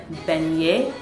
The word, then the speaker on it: beignet: We're going to eat beignet. Then that's how you pronounce it.